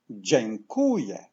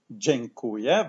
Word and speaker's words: dziękuję: Je, je, kuje, kuje, dziękuję, dziękuję.